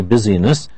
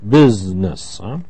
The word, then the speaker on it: business: busy with this but it has a special pronunciation we don't say busyness we say business and he does a